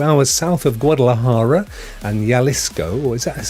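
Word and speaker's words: Jalisco: from Michigan two hours south of Guadalajara and yalisco or is that how you pronounce that my friend yalisco uh there you go I didn't know that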